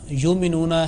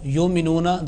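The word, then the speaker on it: يُؤْمِنُونَ: It should be pronounced with jerk but without addition of ayn, like yu'minuna, not yu'minuna.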